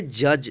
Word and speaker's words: judge: JUDGE, इसको पढ़ेंगे जज। जज मीन्स होता है न्यायाधीश। यहाँ पे देखिए जी से पहले डी है तो डी जो है साइलेंट हो गया है, इसका उच्चारण नहीं होगा।